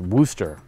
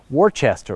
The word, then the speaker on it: Worcester: Brawley that word Worchester it's unfortunately pronounced Wooster emphasis on the whoo what you didn't see and will probably see it for the patreon blooper is us arguing about how to pronounce Worchester or Wooster as I